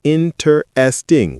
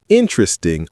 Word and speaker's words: interesting: Not interesting with four syllables. It's interesting with three syllables compressed the middle.